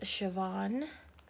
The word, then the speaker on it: Siobhan: on Instagram and said it's an Irish name and that even though it's spelled like this it is Siobhan cross so you're looking